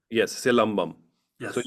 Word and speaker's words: Silambam: Is it Silambam? Yes, silambam. So Yes. you can break it into two words, silam and bum.